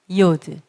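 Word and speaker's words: י: 't' 소리 , 그다음 Yod, Yod, 그러니까 'y' 소리 , Yod.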